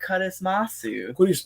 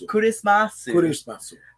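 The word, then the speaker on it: クリスマス: regular Amari, it's Amari Kurismasu. Kurismasu. The Japanese way to pronounce Christmas.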